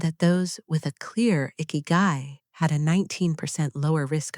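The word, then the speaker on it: 生き甲斐: The sixth thing, ikigai, pronounced as ikigai, meaning the reason to wake up every morning.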